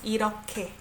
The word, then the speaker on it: 이렇게: 이렇게 I pronounce it as K sound, right? 이렇게.